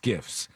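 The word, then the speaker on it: SCIF: before that said it's sensitive compartmented information facilities pronounced Skiffs so what are the two of those is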